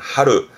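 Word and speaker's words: 張る: 발음은 하루.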